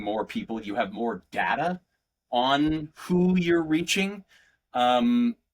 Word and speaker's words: Data: and at one time somebody corrects him like it says like, "Don't you mean Data?" And he says, "No, it's Data." And she says, "Isn't it pronounced Data?" He's like, "Well, the difference is one of them is my name and the other is not.